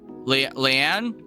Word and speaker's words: Lean: How do I pronounce Lean? Leanne. Leanne. Leanne. I was right. It lean. Leanne. Yeah. Yeah. typically pronounced Leanne.